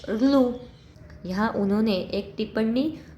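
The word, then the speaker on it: ऌ: अ, ई, उ, रु, ऋलु, इसका क्या है उच्चारण? ऋलु।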